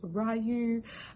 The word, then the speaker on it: Ryu: those of you who don't know how to pronounce his name it's ryu uh i think it's japanese but it's pronounced